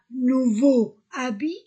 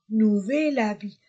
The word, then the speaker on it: nouvel habit: chapeau en général et si le mot commence par une voyelle la lettre H ne se prononce pas a est une voyelle on ne dit pas nouveau habit non nouvel habit un seul elle comme